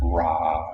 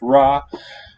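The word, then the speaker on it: rꜥ: pronounce three and nine just pretend they are the vowel ah so r nine the sun or the sun god rei gets pronounced ra in context this is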